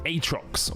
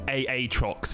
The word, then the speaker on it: Aatrox: another bringer of death atrox or aatrox if you want to pronounce it correctly he received some significant